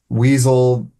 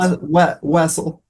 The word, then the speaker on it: Wessel: Weasel. Russell. But Wessle works. Okay. How do you pronounce it? Just for our audience. Wessle.